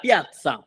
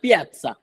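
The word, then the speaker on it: piazza: ওকে, এখন আমরা শিখবো লা পিজ্জা, লা পিয়াজ্জা, সরি ভুলের উচ্চারণের কারণে, লা পিয়াজ্জা।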